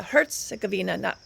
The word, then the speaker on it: Herzegovina: my pronunciation of Bosnia it's Bosnia Herzegovina Herzegovina emphasis on the hurts first syllable most people just shorten